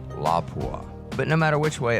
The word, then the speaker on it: Lapua: a French company and the LA P UA is actually pronounced la Bois but no matter which